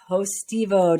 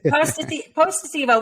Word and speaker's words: Potestivo: Did I get it almost right? I think is an Emmy Award-Winning. I think you got 3 out of 4 syllables. Close enough. Okay, almost. Potestivo.